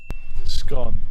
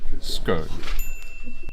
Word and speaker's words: scone: Scone, I think. I never know with that one. Oh, scone. Scone. Scone. Scone. Scone. As you can see, you can pronounce this word as scone or scone.